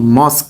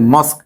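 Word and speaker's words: mosque: সি এইচ E check মনে রাখতে হবে শব্দের শেষে কিউ ইউ ই থাকলে উচ্চারণ ক হবে ক হবে ঠিক আছে যেমন মস্ক এখানে যদি মনে করো এম ও এস কে থাকলে কি হবে মস্ক ক উচ্চারণ হবে ঠিক আছে সি এল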